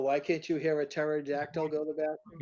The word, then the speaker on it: pterodactyl: Oh, why can't you hear a pterodactyl go to the bathroom? A pterodactyl go to the bathroom because the P is silent.